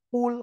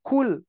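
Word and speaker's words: قُلْ: ternyata huruf-huruf ini harus dibaca Qul qof misalkan ya jangan sampai kita kita membacanya apa Pak Jangan sampai kita membacanya kul nah seperti ini kul kalau kul ini artinya adalah Makanlah ya ini artinya Makanlah kalau dengan Kaf tapi kalau dengan Kaf kul artinya adalah Katakanlah gitu ya Nah seperti itu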